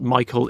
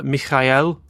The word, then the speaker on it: Michael: Mikel Bartles so yeah Michael in German is not it's not Michael it's mik it's Mikel roughly so Mikel Bartles Edgar